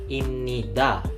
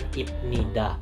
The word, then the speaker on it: 입니다: daripada subjek kalimat dan cara bacanya adalah imnida bukan ibnida contohnya joneun artinya saya